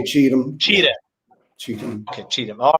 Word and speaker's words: Cheatham: I never knew how to pronounce his last name. Cheatham. We just say Cheatham.